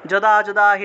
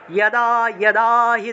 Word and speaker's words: যদা: এই যে গীতার একটা বিখ্যাত শ্লোক আছে, যদা হি ধর্মস্য, এটা যারা জানে না তারা যদাহি বলে, কিন্তু আমরা যদাহি বলবো না, কারণ অন্তস্থ জয়ের সংস্কৃত উচ্চারণ হলো ইয়। তাহলে উচ্চারণটা হবে ইয়াদাহি ধর্মস্য ग्लानिर्भवति भारत अभ्युत्थानम्